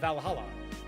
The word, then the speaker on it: VA-11 Hall-A: are hey Bala the name sounds silly and a bit hard to pronounce good thing it's actually called valala but funny numbers and